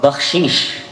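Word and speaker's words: baksheesh: Bakshish. Bakshish in Farsi. Bakshish. So it pretty much rhymes with hashish.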